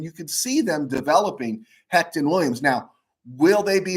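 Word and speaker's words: Hoecht: his name but i think it's pronounced hect is michael heck he was a free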